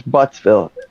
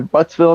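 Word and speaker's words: Buttzville: a town of buttsville there's buttsville but it's spelled bu it's b-u-t it's b-u-t-t-z-b-i-l-l-e that's in pennsylvania i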